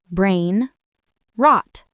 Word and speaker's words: brainrot: It's a compound word. Brain rot. Two short, strong syllables. Brain rot. It's easy to say and it creates a strong image.